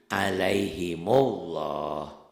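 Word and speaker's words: عَلَيْهِمُ اللّٰهُ: Nah, ini ini cara nyambungnya tuh dikasih doma. Itu. Jadi alaihimullah atau lakum alladzi tuh.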